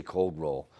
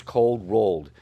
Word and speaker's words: cold rolled: And I don't pronounce that. I'll say cold roll. But the proper call out for this material is it's cold rolled.